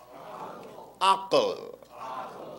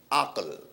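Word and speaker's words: عقل: to pronounce certain words everyone say AAL right if I were to transliterate that into English letters it would be a Q L akle right akle represents the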